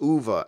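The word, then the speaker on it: Uwe: pronounce his name calls calls him away but it's not way it's ova actually you might want to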